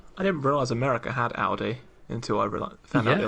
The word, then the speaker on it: Aldi: But it gets pronounced oldie there.